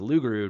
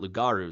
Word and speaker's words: Lugaru: People said Lugaru. There's a reason, right? They said Lugaru comes from like loup-garou or something in French, which is like loup-garou, which means werewolf in French. So it's pronounced Lugaru, not Lugaru, like I thought.